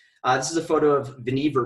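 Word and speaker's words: Vannevar: is a photo of veneever bush name rhymes with beaver no relation to other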